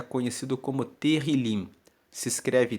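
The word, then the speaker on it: Tehilim: no texto original em hebraico é conhecido como terril se escreve t e h i l i m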